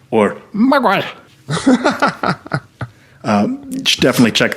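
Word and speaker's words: Mgła: L A, but apparently the L has a little little line through it. And uh according to the internet, that's pronounced like a W. So it's migua or miga.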